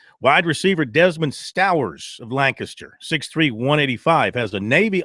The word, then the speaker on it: Lancaster: Notice the correct pronunciation of Lancaster. A lot of ignorance in our states, mostly from the north, say Lancaster. Lancaster, people.